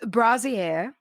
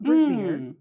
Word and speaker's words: brassiere: Brassiere is brassiere, not brassiere.